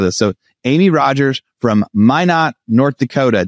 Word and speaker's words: Minot: So Amy Rogers from Minot, North Dakota. Did I say it right, Amy? That is correct. Minot, North Dakota.